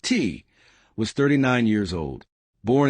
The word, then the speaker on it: Thy: By Mitchell, and yes, it's pronounced T, was 39 years old, born in Chicago, raised in Houston.